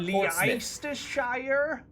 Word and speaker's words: Leicestershire: No, how about Leicestershire? Leicestershire? Nope. I mean, I've seen Portsmouth, and that's spelled Portsmouth.